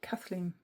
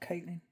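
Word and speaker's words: Caitlín: I think that's pronounced Kathleen Matthews, not Caitlin. As I've said many a time, Caitlin, but I'm sure I saw somebody point out that it's actually Kathleen.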